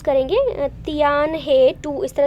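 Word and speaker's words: Tianhe-2: कह लो, या फिर अपना ये इसको क्या प्रोनाउंस करेंगे, तियान हे 2 इस तरह से बोलेंगे।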